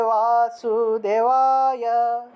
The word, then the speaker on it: বাসুদেব: বাসুদেবায় ওম নমঃ ভগবতে বাসুদেবায় ওম নমঃ ভগবতে বাসুদেবায় এই বাসুদেব মধ্যে এই বটা হলো বর্গীয় ব কারণ বাসুদেব শব্দটার মধ্যে এই প্রথম বটাকে আসলে বর্গীয় বসে উচ্চারণ করা হয় সংস্কৃত ভাষায় তাহলে বাসুদেব বাসুদেবায় বাসুদেবায়